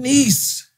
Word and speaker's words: Nice: We're in Nice. I didn't even know how to pronounce it at first.